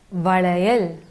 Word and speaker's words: வளையல்: ஸோ வளையல், வளை, லை, லை வந்து சென்டரில் வரணும். வலை அப்படி கிடையாது, வளையல்னா சின்ன லாவாயிடும். வளையல் மிடில் வந்துச்சுன்னா அந்த லா வந்து உங்களால் கரெக்டாக ப்ரொனவுன்ஸ் பண்ண முடியும்.